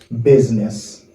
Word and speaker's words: business: Mais the right way to say it is business. Let's say that. Business. Okay? Business. Nous pas prononcer IA. We say business. Okay? Business. It's like I is silent.